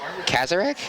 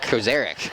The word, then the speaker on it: Kozarek: Case Kazarek? Is that how you say it? Kozarek. Case Kozarek.